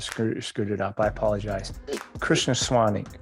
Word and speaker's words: Krishnaswamy: You just told me literally 30 seconds ago, and yet I still butchered it, screwed it up. I apologize. Krishnaswamy. Krishnaswamy.